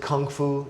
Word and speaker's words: Kung Fu: Kung Fu, the translation of Kung Fu, the Americans pronounce it Kung Fu, Chinese pronounce it Kung Fu with a G.